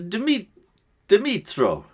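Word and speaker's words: Dmytro: So I can see down below the name pronounces as Dimitro, and the second name, this is how you call it, is.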